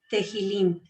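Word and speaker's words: תהלים: Aquí tenemos arriba la palabra en paleohebreo que significa alabanza o salmo y se dice tejilim. Y la tenemos abajo en griego que se pronuncia salmois.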